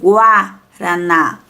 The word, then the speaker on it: guaraná: observa em prestem atenção quando falamos palavras com gua war pronunciamos a vogal u tá então aqui nós pronunciamos a vogal u = reparem bem guaraná régua régua água a água enxágua enxágua ambígua ambígua sempre vamos pronunciar a letra u tá só vou dar